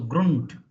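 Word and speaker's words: Grund: r u and d d at the end becomes T So Grunt and U and D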